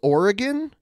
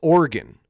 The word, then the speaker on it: Oregon: You know, I say it Oregon as three syllables, Oregon, but I've noticed a lot of people from Oregon do it with two syllables, Oregon.